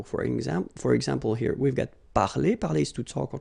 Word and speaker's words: parler: So I mean, this combination of two letters at the end of the words normally gives the sound e. Okay, parler, and then past participle, participe passé, parler.